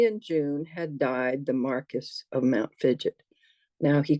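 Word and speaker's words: Marquess: late to say I know this can't be pronounced Marquee but how do you pronounce it and so he very kindly told me it was Marcus I was able to and it's even better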